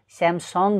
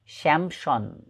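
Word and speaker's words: Samsung: त तपाईँले भन्नुहोला स्यामसङ, किनभने सबैले त्यही उच्चारण गर्छन् हाम्रो देशमा, तर यसको सही उच्चारण स्यामसङ नभएर स्यामसन स्यामसन स्यामसन यसको सही उच्चारण हो, यदि तपाईँ करेक्ट प्रोनाउन्सिएसन गर्न चाहनुहुन्छ यसको भने.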